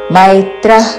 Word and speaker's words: మైత్రః: सर्व भूताना मैत्र కరుణ మేత్ర కాదు మై ఐత్వముతో మైత్రః కరుణ విసర్గ తర్వాత క